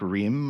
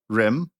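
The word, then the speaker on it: Rhyeamh: love combining things like r h y e a m h Ryan rame and pronounced like Reem or rim uh yeah I like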